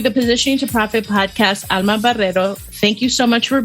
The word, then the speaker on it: Alma Barrero: So my name is Alma Barrero, very well pronounced, Patty.